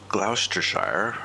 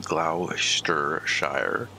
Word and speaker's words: Gloucestershire: we're doing that now we are in gloucestershire that's the proper way to pronounce that i believe glauster shire i don't believe what is written on your screen we were here last